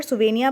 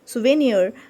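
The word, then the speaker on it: souvenir: इस वर्ड को हम यहाँ पर सुवेनिया पढ़ेंगे तो आपको प्रोनाउंसिएशन गलत नहीं करना है, सुवेनियर।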